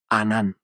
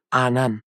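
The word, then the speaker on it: עָנָן: 히브리어로 구름은 아난입니다. 당한 아 발음이 들어간 단어입니다. 아 아난 보통에 아 발음도 있지만요. 아난 바로이 단어입니다. 아난 그렇게 구름이 내려왔습니다.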